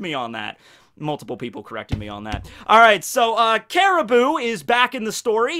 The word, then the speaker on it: Caribou: Is it actually just pronounced like Caribou? Like the deer?